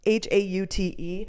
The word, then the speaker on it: haute: Haute?